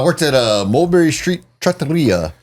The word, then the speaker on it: trattoria: I had a So, I worked at a Mulberry Street trattoria. However you say it. I can never roll my roll my Rs. Trattoria.